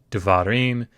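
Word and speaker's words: דְּבָרִים: It is pronounced devarim. It has come from an originally long A that has been reduced because we've shifted the accent away from it by putting the ending im on. So instead of saying davar, you say devarim.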